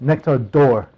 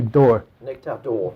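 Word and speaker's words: Nectar d'Or: accent on the o you should actually pronounce it as if you don't know how to pronounce French nectar door it should be door nectar door door just absolutely straight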